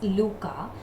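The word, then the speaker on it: Lykke: little book of luca please don't go the way it is written the pronunciation is luca so out of the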